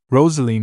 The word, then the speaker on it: Roselene: Roselene nodded thoughtfully. That's how you pronounce Roselene in the east.